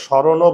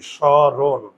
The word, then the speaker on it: স্মরণ: এ কারণে হসন্ত সরণ আমরা তো স্মরণও বলি না আমরা কি বলি সরণ তাহলে এই সিঙ্গেল ব্যঞ্জন